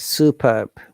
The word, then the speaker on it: superb: Superb. Superb. Superb. Superb. British IPN and the American IPN. Superb. Superb. They pronounce the R, but in the British English, we don't pronounce R.